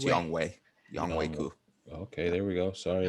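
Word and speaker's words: Younghoe Koo: So I do think Young Hoku gets a lot of opportunities. So I do want to say that it's Young Wei. It's pronounced Young Young Wei. Young Wei Koo.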